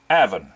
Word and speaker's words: Avon: bunch of instructors who pronounced the word spelled avon as avin now the people who live in that area now pronounce it even and most uh people in america would probably see that word and pronounce it avon but for the benefit